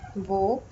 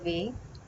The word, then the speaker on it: वो: So both pronunciations are fine. Wo or we.